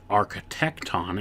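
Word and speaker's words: architekton: or Mason a Son of God the Grand architecton and that's spelled a r c h e t e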